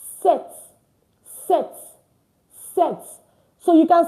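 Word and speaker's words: sept: And then seven is pronounced set. Set. Set. So you can see that it is spelled s e p t. But we did not pronounce the P in it.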